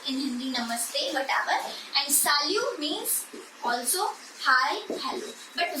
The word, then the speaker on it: salut: hindi namaste whatever and salute means also hi hello but where we see bonjour and where we say we what is the pronunciation of this word this is salu and this is so